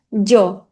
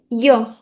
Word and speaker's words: yo: E aqui a gente tem três pronúncias diferentes porque existem regiões diferentes do mundo hispânico. Então a gente pode pronunciar jo, ch yo. E aí vai depender de como as pessoas no lugar que você vai estar visitando, elas vão falar: "So